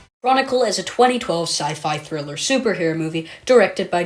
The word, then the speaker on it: sci-fi: Chronicle is a 2012 sci-fi thriller superhero movie directed by Josh Trank and written by Max Landis. And also, Jonathan James, if you're watching this video, it's not pronounced Sky-Fi.